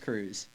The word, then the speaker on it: Kruse: It's spelled Krause? Krause, isn't it? It's Kruse. That's Krause. That's Kruse. See, but it's pronounced Kruse. Okay. See, that's the first time I've ever heard someone pronounce it like that. Usually You people made it make fancy. it a long E.